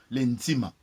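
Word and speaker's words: nzima: Un jour, l'intima, puisque les Bakongo, puisqu'ils disent que Bundu dia Congo, Bundu c'est un mot allemand, donc on peut comprendre aussi qu'ils prononcent comme les Allemands, l'intima.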